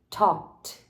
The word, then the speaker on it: talked: Project talked to her no passado o verbo Talk ele fica com um som de t a gente bota Ed no final da escrita mas a pronúncia fica com T she talked é Talk com no